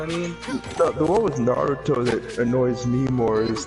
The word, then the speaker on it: Naruto: they're using like um obvious saying naruto when it's obviously there's no freaking d you're putting a d where the t is sometimes that could be